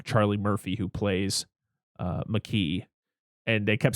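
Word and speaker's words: Makee: uh pronunciation of uh it's mckee not like mackey i watched all the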